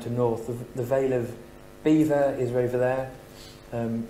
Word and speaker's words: Belvoir: North the veil of beaver is over there um spelt Belvoir I don't know if anyone says Belvoir but it's pronounced Beaver um and from the